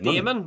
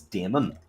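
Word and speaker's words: Daimon: which is why I've always referred to him as Damon.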